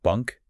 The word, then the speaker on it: Bunke: M her plans to marry Eric Bunk. And we should probably say it's usually pronounced Bunker.